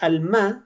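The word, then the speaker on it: עלמה: Alma se escribe así en hebreo, de derecha a izquierda.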